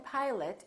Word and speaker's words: pilot: The O in pilot becomes a.